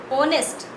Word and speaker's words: honest: In the spelling of honest, H is silent. The pronunciation, the sound is honest. Okay. So that's why the sound is O, honest.